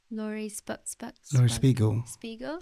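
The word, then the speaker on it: Laurie Spiegel: How do you pronounce her name? Lori Spiegel.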